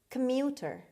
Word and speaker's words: commuter: word number one commuter commuter commuter the stress is on the second syllable on m commuter one who travels